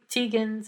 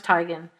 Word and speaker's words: Teigen: about endlessly yeah right nothing and uh Chrissy Tan's apology to her and now Chrissy Tan's name is pronounced widely pronounced tan but she actually prefers tigan I'm going to use Tegan because that's how